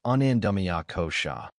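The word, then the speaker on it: anandamaya kosha: Deeper still is anandaya kosha pronounced anandamia kosha which means the body of bliss or deep inner joy.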